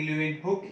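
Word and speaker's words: Leeuwenhoek: और जब living cell की बात होगी तो ल्यूवेनहुक, या फिर इसको प्रोनाउंस करेंगे ल्यूवेनहुक ही प्रोनाउंस करते हैं अपन, ल्यूवेनहुक साहब को नहीं छोड़ सकते हैं।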